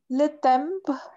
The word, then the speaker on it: temps: Wait, all this we don't pronounce. Le temps. Le temps. Mm-hmm. Le temps. not dumb, just like dance. No, not a dance. How to say that? All this, we don't pronounce this. Just dumb. Okay. Okay. La tam. Le temps. Le temps. And this one not a m, but just you need to pronounce it with your nose.